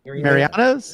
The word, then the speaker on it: Mariano's: Where's the E? There's no E when I say it. Mariano's.